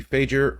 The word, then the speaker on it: Fajer: Fajer rhymes with major.